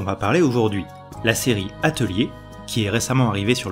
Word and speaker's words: Atelier: avons la chance d'être les seuls à savoir prononcer correctement. Atelier. Atelier.